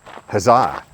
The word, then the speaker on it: Huzzah: huah well I pronounced it huzzah as in the cheer hip hiip huzzah yeah it's kind of